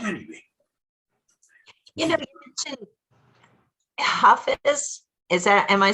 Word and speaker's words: Hafiz: You know, you mentioned Hafiz. Am I saying it right? Yes, Hafiz.